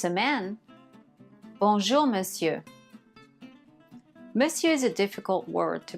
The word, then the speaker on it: Monsieur: Madame and if it's a man Bonjour Monsieur Monsieur is a difficult word to pronounce so listen to it again and again please repeat after me Bonjour Monsieur if it's after 6:00 p.m.